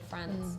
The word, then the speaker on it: France: Because in French it's en, but in Spanish it's an. And then it's the same in German, it's going to be an, Frank. Us too, France.